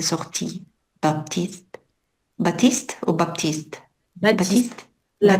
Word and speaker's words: Baptiste: Baptiste. La T Baptiste. ne se prononce pas.